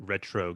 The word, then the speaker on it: Retreaux: Oh, it's like Retreaux Games. It's spelled in a French way.